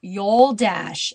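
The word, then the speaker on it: Yoldaş: So Yoldash is how you pronounce the last name, which if you looked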